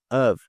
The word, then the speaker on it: of: formam essa palavra aqui of, eles não são pronunciados como off. Off, eles são pronunciados como of. O f ele tem um som de v bem parecido com o nosso V no português, tá bom?